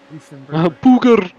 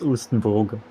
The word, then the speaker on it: Oostenbrugge: Eastern Booger. Brugger, yeah. No, it's the R first and then the U. So it's Oostenbrugge.